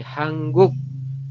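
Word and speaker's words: 한국: Nah beginiun dibacanya menjadi hangguk tulisannya hanguk tapi dibacanya hangguk bolak-balik bisa ya entah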